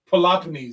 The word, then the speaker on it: Peloponnese: Or better yet, Peloponnese is the better word to put it. That's the way it's supposed to be pronounced.